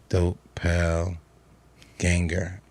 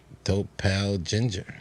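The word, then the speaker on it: Doppelgänger: Dope pale ganger.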